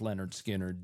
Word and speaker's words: Lynyrd Skynyrd: But that debut album that was titled Pronounced Leh-nerd Skin-nerd did really well for the band, reached number